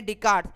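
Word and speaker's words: Descartes: है Renee डिसकैट्स Renee डिस्कार्ट्स मैंने online जाकर गूगल पर जाकर प्रनंसीएशन देखा है यही बोलते हैं इसको रेमेडी कार्ड अभी आप लेंगे और उसके अंदर एस है कि वह साइलेंट है f4 साइलेंस चुप हो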